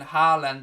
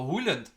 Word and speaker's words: Haaland: Morton said, Craig, in Norwegian, Haaland is pronounced O-O sound. So Haaland, is it like Haaland?